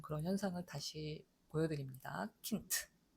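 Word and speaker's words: Kind: 킨트. 요거는 느라는 유성음이 단어 맨 끝에 나오면서 무성음화되는 그런 현상을 다시 보여드립니다. 킨트.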